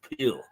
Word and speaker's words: Pill: uh spelled I think it it's a it's pronounced peel um anyway he's the bank of England